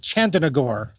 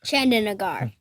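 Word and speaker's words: Chandernagore: But what in heaven's name rhymes with Chandenagore? It's Chandenagar.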